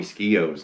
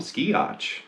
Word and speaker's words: Skeoch: way to pronounce tommy skio's name because for you know a long time i always called him ski otch i didn't know you didn't pronounce the ch but it's actually tommy